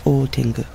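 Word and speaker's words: ōtengu: Great Tengu in Japanese Dai Tengu or sometimes pronounced old tingu it has another name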